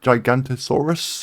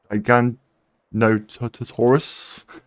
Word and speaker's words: Giganotosaurus: Oh, we also met the Gigantosaurus. I think that's how you say it. Giganotosaurus.